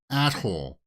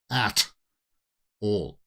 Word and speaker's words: atoll: So it sounds like they go to some kind of an atoll. Be careful how you pronounce that word, right? Atoll? Not, yeah, you know what people confuse that word with. At-hole.